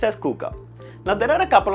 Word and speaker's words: Coocaa: hd 2022 kuka tv yes it's written as koka but it's pronounced as kuka now there are a couple of things about